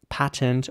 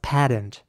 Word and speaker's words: patent: In British English, this would be pronounced patent or patent. So basically with an R sound again. And in American English, this would be pronounced patent.